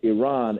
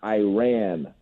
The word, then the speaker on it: Iran: thank you first and foremost we're calling it Iran and not Iran that is my biggest pet peeve when Americans call it Iran it's not Iran it's not Iraq Iran it's a rock let's